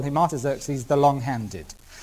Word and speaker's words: Artaxerxes: the third one was given by a man called artaxerxes longimanus i better spell that i think a r t a x e r x e s artaxerxes longimanus l o n g m longimanus